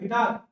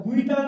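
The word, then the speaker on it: guitar: अनुमान लगा सकते हैं गिटार, गिटार गुइटार नहीं होता गिटार होता है, ठीक है।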